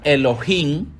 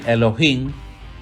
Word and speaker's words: Elohim: Génesis dice Elohim creó Elohim que sería el loa singular al agregarle Inn es el plural Elohim se pronunciaría Elohim es en plural serían